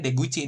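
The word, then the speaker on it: 出口: Kalian lupa cara bacanya bahwa ini bacanya Deguchi nih.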